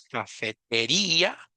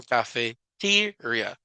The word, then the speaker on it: cafeteria: email verdad cafeteria Enton cafeteria no es cafetería como en español sino cafeteria una sílaba antes es la fuerza de voz como que ahí